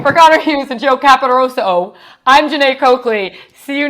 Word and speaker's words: Caporoso: Is it O or A? Because this whole time I've known you, dude, I thought it was O. It's the O. It's the O. Oh, I'm saying it wrong. Caporoso. Yeah. There you go. You're going to really hold on the O at the end there.